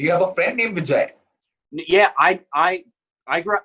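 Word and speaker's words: Bijay: simple one it's b i j a y vijay oh that is fantastic oh that is correct do you have a friend named vijay yeah i i grew up in sydney there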